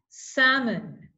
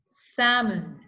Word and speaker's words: salmon: the second one is salmon salmon you don't pronounce the L right the next one